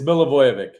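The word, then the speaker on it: Milivojević: question uh gentlemen how on Earth do you pronounce your last name what it it's milovic mil aoic mil ayic I am so sorry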